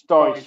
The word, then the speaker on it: Daice: It's called It's Dice spelled with I E, so it's Dice.